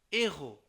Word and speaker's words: héros: যেমন ধরুন devant à h aspiré, তার মানে কিছু কিছু সময় এইচটাকে মানে উচ্চারণ করতে হয় না, বুঝেন নাই? যেমন ধরুন ce sont des héros, normally আপনি কিন্তু এখানে পড়তে হয়তো ce sont des zéros, অনেকে পড়ে যে ce